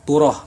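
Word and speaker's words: תורה: Ada dalam kurung Turoh bacanya, yang berarti instruksi atau ajaran, dari bahasa Ibrani.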